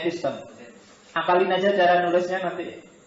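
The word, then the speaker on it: ἐπιστήμη: Itu ya bacanya epistem.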